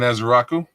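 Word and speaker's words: Ezeiruaku: Edge uh how you pronounce his name? Donovan Azeraku.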